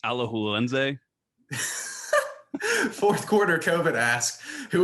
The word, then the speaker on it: Alajuelense: It's pronounced Alajuelense.